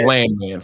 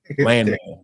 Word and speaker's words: Landman: It's pronounced Landman, free. Landman.